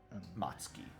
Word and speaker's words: Matsuki: Matsuki, yes.